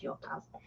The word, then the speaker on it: Jotaz: It's spelled like Jotaz, but the way it's pronounced is Yotaz.